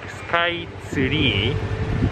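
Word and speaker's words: スカイツリー: How we pronounce sky tree is like sky tsuri. We don't have tsu sound, so it's really hard to pronounce. So tree becomes tsuri, and then Tokyo sky tsuri is a Japanese way to say sky tree.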